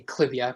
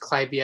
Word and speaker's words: Clivia: just yet, is the clivia, or you might say clivia, but it's actually pronounced clivia after Lady Clive, I believe.